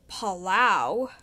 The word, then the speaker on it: Palau: It's pronounced Palau.